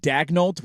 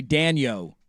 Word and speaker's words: Daignault: One listener is saying Mark Daignault, which I'm sure I'm saying that wrong. Daignault? He's saying it's supposed to be Daniel.